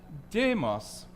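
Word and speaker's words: δῆμος: Well, if you pronounce that demos, you mean the people. If you say demos with the accent on the last word, and these are tone accents, more like the Swedish chef than like our accents. If you say demos, you say fat, not the people.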